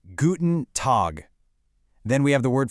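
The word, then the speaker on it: Guten Tag: Pronounced guten tog.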